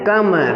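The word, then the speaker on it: come: ओ का प्रयोग है, लेकिन इसका उच्चारण हम लोग प्रोनाउंसिएशन क्या करेंगे, अ करेंगे, प्रोनाउंसिएशन क्या करेंगे, अ करेंगे। जैसे कम, कम माने होता है आना, कम माने क्या होता है, आना।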